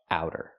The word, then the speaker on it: outer: word out or outside so the pronunciation use the ow sound like how and now ow outer it's a fast T outer not outer but outer in AER American pronunciation outer is an adjective